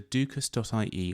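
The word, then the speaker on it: dúchas: about their Irish ancestry is to use the dukus.ie website that's spelled d-u-c-h-a-s dot i e this website is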